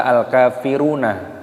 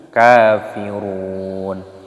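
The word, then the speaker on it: كافرون: Dan nunnya di sini dimatikan, mad adid sukun. Jadi jangan dibaca al-kafiruna, tapi kafirun.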